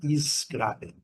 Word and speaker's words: scrap: Então, quando nós temos esse e, ele nos faz, nos reporta aqui a uma pronúncia de um a bem longo. Por não termos o e aqui, o a é bem curto.